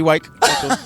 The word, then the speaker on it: Wike: And we have with us here, Buddy Wike, like a bike, but with a W.